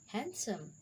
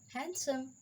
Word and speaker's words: handsome: crutch rule number two d is not pronounced in the following common words valeste handsome handkerchief sandwich so d is silent in these words we cannot pronounce t like veniste handsome handkerchief sandwich how the e is silent